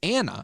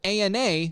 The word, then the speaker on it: ANA: It's an acronym that Ethan pronounces Anna instead of ANA like most every medical professional does.